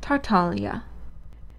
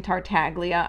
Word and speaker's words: Tartaglia: for my own sanity this is an italian word and italian unlike english is phonetically consistent so i can tell you that this is pronounced tartalia i know that nobody from mihoyo is watching this but please for the love of god stop calling him tartaglia i lose a month